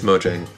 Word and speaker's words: Mojang: And do people mispronounce it? Constantly. All the time. Internally. All the time. It's mojang.